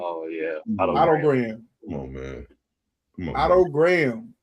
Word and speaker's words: Otto Graham: And then moving closer to the top 10, number 12, Otto Graham. That's how you say his name, correct? Oh, yeah. Otto Graham.